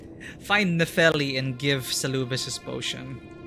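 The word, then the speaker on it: Nepheli: soon nicely i don't know why i said menelli i keep got the name wrong find nephili and give salubus this potion oh remember uh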